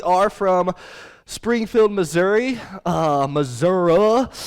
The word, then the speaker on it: Missouri: from springfield missouri uh missouri is i didn't realize that the i turns into an a when you move there and so it's just that's how you pronounce yeah i'm from missouri